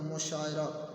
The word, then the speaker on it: مشاعرہ: تلفظ ایک جیسا ہوگا۔ آگے مشاعرہ، میم کے اوپر پیش، شین کے اوپر زبر، آئین کے اوپر بھی زبر ہے، را کے اوپر زبر ہے، تو اس طرح ہے